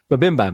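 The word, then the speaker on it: MBMBaM: I can never pronounce it right. Mbam, which is like my brother. Mabimbam. Mabimbam, that's how you say it.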